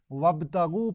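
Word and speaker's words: وابتغوا: कर या तलाश करो इस इग के सामने वाव जबर वा लगाया जाता है तो यह अलिफ साइलेंट रहता है अब वब ताग पढ़ा जाए वता गु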